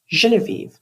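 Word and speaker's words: Genevieve: reason she chose me maybe it was because I was the only one who could pronounce her name the way she liked it she taught everyone how to create the perfect list Genevie because she said only unrefined people use the hard J every day I practi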